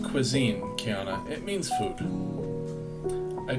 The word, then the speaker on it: cuisine: Oh, cuisine? It's pronounced cuisine, Kiana.